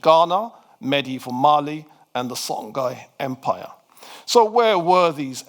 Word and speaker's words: Songhai: Now, Songhai is how we say it in English. Some people think that should be pronounced Shongai, but we'll just keep it we'll keep the pronunciation simple.